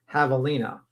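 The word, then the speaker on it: javelina: Uh Captain Napkin says, "Be tempt Havalina is pronounced Havalina." Yeah, I already was told that. You're a little behind, Captain Napkin. You know, I'm just saying not everyone knows the J is silent for the pigs that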